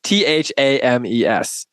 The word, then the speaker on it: Thames: It's not even pronounced how it's spelled, right? Thames.